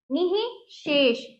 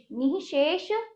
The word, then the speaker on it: निःशेष: हल्का सा इसमें हा का उच्चारण बीच में होगा।